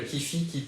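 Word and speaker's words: kyphi: D'ailleurs, toujours Égypte antique, le kipi qui est le parfum spirituel, le kifi, ça dépend comment vous le prononcez, qui est une recette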